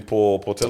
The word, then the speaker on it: Portelli: I think we're talking about Money Man himself, Adrian Portelli. Oh, How do I yes.